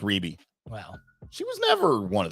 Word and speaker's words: Rebbie: really all she's gotten Ruby Ruby yes pronounced Ruby well she she never wanted the Jackson 5.